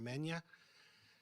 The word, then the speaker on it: Megna: Megna, G is silent for many years.